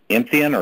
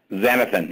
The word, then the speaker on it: xanthan: It's a derivative from green plants, and it's xanthian or something. I'm not sure how you pronounced it. Xanthan.